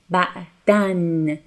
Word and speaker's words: بعداً: much in Persian, but you have to pronounce it like n, ba'dan. That tanween, change the pronunciation to n.